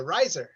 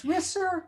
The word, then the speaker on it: Risser: Put your hands together for the very funny Reiser. Yay! Woo! Woo! I know you're never supposed to correct the host or whatever, but the name is Risser like kisser.